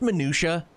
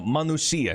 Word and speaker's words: Manusia: In ancient times, the Is it pronounced Minutia? No, Manusia, not Minutia.